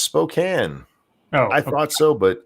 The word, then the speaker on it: Spokane: where we had scribed Spokane is pronounced Spokane no I thought so